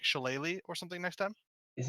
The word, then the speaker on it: shillelagh: is lethal so I wanted to consider like shillelagh or something next time is it actually shillelagh yeah I've been saying she Liang and making fun of butters for saying shillelagh